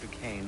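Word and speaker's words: Duquesne: Rallying the troops and then it's on to Fort Dukane, I assume.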